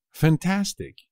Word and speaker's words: fantástico: p muy fácil también fantástico fantástico también es fácil pero no os olvidéis del acento en la segunda pico me parece fantástico